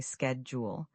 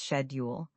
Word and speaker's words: schedule: This word has two common pronunciations. In American English, we usually say schedule. In British English, it's schedule. Both are correct, but make sure you're consistent with whichever accent you're learning.